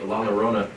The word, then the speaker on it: La Llorona: First, The Curse of La Llorona in 1970s Los Angeles, the legendary ghost La Llorona. Did I get that? Am I spelling that or pronouncing that correct?